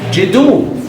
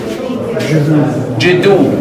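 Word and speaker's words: Djedu: So the rest here is the serpent, J, and then the hand, D, and then the quail, U. So these are the phonetic complements that helps us to pronounce the word. Jidu, Jidu. Then what is this? This is a symbol of a city. It's silent. We don't pronounce it.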